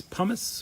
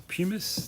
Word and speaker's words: pumice: So that's why I've got it in a bucket, but it's pumice or pumice, depends how you say it.